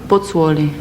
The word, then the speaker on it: Pozzuoli: During the war, how do you pronounce the name of your original hometown? Pozzuoli.